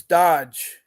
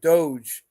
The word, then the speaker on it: DOGE: what's happened now is Dodge or Doge I keep pronouncing it wrong Doge which was organized by